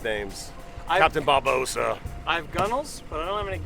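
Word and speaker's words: gunwale: so I probably don't Gunnels? do that. I could have brought some guns. That'd have been fun. Gunnels. The gunnel is actually gun whale. Like if you spell it out.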